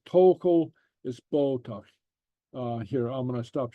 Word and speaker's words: bodach: Bodach, tokel. Okay. All right. So the Gaelic T and the Gaelic D are pronounced a little bit different from the English.